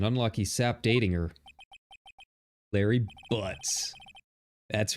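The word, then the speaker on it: Butz: arrested was an unlucky sap dating her Larry butts that's right Larry butts actually it's pronounced boots at my best friend since grade school the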